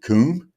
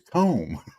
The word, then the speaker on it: comb: See, is it coom? No, it's comb.